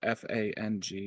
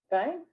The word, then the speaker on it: Fang: How Jerry, do you know how the f A N G is pronounced? Fang. Fang.